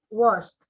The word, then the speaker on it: washed: Por aquí hay otro, what, washed. Bueno, aquí la pronunciación es como una T al final, ¿no?